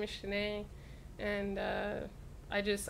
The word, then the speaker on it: Shaneé: Shanae and I just I actually told people how to say my name because everyone was saying like Shaney or Shawnee and so that was my first video and or Shane yeah or Shane and it got like